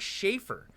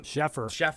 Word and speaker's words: Sheffer: And one more actor, dude, Mick, fucking played by Craig Schaefer from Sheffer. Okay, is that how you pronounce it?